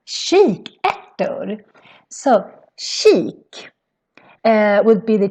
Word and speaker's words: kikärtor: And in Swedish, it's pronounced kikärtor. And it's very different from when you see it, because if you would see this very fast, maybe you would think it's kikartor, but no, it's pronounced kikärtor.